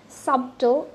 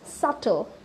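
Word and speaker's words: subtle: আমার সাথে সাথে রিপিট করবেন, ইটস সাটল, নট সাবল, সাবটল এরকম না, ইটস সাটল।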